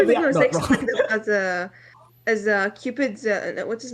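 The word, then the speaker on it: Cykes: Because whenever I heard people dubbing it, I never heard them saying it's Sykes, like not Stikes.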